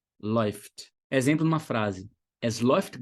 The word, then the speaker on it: läuft: Um exemplo, läuft. Então, a escrita é L-A umlaut, U-F-T, mais esse A umlaut com U soa como oi, läuft, läuft.